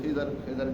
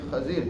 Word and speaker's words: خضر: نے بتایا تھا کہ یہ لفظ تلفظ اصل خضر ہے، بہت سارے غلط فہمی میں لوگ خضر کہہ دیتے ہیں، لفظ عربی میں خضر ہے۔ اور ان کے بارے